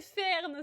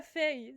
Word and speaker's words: Fern: Je pourtant j'en parle tous les jours avec un Ah non c'est Fern, c'est pas feille, c'est Ferne.